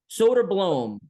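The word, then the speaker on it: Söderblom: Number two, number three, the pronunciation of names that he has for everybody. Is it so? Soderblom? Soderblom. Yes. Soderblom.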